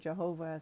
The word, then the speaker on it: Yahweh: I pronounce it Yahweh. Some people pronounce it Jehovah. Some people pronounce it Yahuwah. We don't know the vowels. We don't know the consonants even, because Hebrew is different.